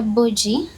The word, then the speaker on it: Bugie: Is it Bugie? Tuna pronounce nga batya? It is Bugie, Peculiar Star, International Award winner.